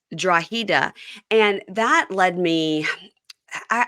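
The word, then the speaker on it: Drogheda: of the place where Shawn is from it's draa oh okay it's spelled draga but it's draa and that led me I I got led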